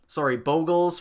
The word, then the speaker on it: Bogles: play around Boggles more, Bogles for those of you who are really concerned with how that's pronounced. I do believe the correct way is Bogles, and that's the only way I've ever heard anyone say it's pronounced while getting mad that it was pronounced a different way, so I'm gonna go with Bogles being right.